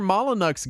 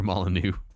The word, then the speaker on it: Molyneux: said was true that Peter maluck guy lied Peter molu and eventually later we learned how to pronounce his name correctly and learned that he made other games too so that was my intro to Peter molanu yeah I um I